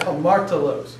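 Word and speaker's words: ἁμαρτωλός: The rough breathing always is pronounced with an H sound. So you have hamartolos.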